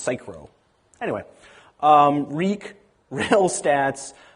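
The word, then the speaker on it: Saikuro: you'll have fogg fle cychro I used to pronounce it cyuru but then I was told that it's actually a joke about cyclomatic complexity and supposed to be pronounced cyro Anyway, um, Reek, Rails stats, Rails best practices, archov, and churn.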